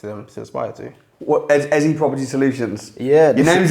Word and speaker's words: Ezi: What, Ezi Property Solutions? Yeah. Your name's Ezekiel, so... Yeah. So it's pronounced like easy property solution, as in I want to create an easy solution to a landlord's problem.